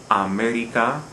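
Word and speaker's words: América: syllable we do stress look at this example america the word ends in a vowel america we don't stress the second the last syllable as the rule would require we stress the third the last so we have to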